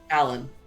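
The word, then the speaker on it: A'lan': We put an apostrophe, but nobody pronounces it. It's A''Lan, but people just say Alan.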